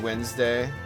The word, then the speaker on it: Wednesday: Said Wednesday. It's spelled wedness day.